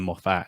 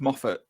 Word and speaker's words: Moffat: You know, written by Stephen Moffat and starring Benedict. But no. I'm sorry. I can let you get away with a lot of stuff. What the hell was that pronunciation of Moffat? I say Moffat.